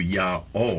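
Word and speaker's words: YHWH: You will hear the more ancient pronunciation of Yao with the silent hey.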